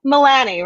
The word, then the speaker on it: Milani: like great I just did it again so Milani right yes yes pronounced that you know how many people say